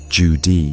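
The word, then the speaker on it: Zhu Di: His name was Jud, pronounced Jude.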